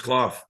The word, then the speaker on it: Clough: Yeah, it's Clough.